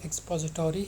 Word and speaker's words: expository: अगर हम American accent में इसको रीड करें तो एक्सपोजिटोरी है, और अगर ब्रिटिश एक्सेंट में देखें इट इज़ एक्सपोजिटरी. The stress is ऑन the second syllable.